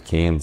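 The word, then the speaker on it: Cian: My name is Keyan, C-I-A-N, but no, like, everybody else can't really pronounce that, so that's why my name is K-E-Y-I-N-N as a username, like, key in the door.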